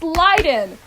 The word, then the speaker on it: Leiden: Leiden and I'm like too bad it's Leiden as lighting um that is a